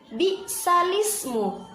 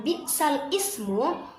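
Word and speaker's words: بئس الاسم: salismu yang awalnya atau Biasanya kita membaca lafadz tersebut dengan bitsal Ismu kita rubah awak yang awalnya lam itu sukun maka kita rubah dari Hamzah yang berharakat kasrah maka kita pindahkan kasrah kepada huruf lam jadi cara membacanya yaitu big salismu jika kita membacanya tetap dengan cara membaca itu adalah bacaan yang salah jadi kita harus merubahnya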